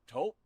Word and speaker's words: Toop: Or Taupe Insurance? Maybe? I don't think so. Say it right. That's T-O-O-P. That's Taupe. Oh, it's Taupe. That's Taupe Insurance in Castleton.